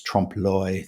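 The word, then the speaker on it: trompe l'oeil: Often times murals in cities will have this Trumpoy thing on them. In um it's spelled T R O M P E L L apostrophe o e i l.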